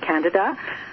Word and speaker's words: Candida: are if you're in the medical profession they pronounce it Candida and it's an organism it's a type of